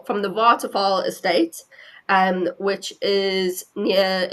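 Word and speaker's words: Waterval: V A L but you pronounce in South Africa a W is pronounced as a V and a V is pronounced as an F.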